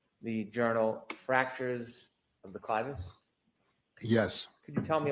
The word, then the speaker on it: clivus: Am I pronouncing that correctly? Clivus, Thank you.